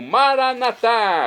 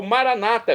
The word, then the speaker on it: Maranata: e agora eu clamo maranat como dizemos nós católicos ou Maranata como dizem nossos irmãos separados os evangélicos ou protestantes não importa pronúncia o significado é o